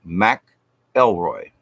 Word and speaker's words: McElroy: and e.l mcelroy and that is spelled ma C capital e l r oh why one word Mac Elroy so it's Mathilda O'Donnell